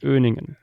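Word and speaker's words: Öhningen: pronounced Öningen.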